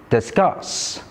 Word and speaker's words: discuss: Did you notice the common stress pattern in these words? All these words are verbs and all of them have the stress on the second syllables. So here is a new tip to identify word stress. Stress is often placed on the second syllable in two-syllable verbs.